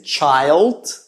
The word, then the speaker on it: child: You notice that the word child has a long I sound and the word children has a short I sound. So we say child.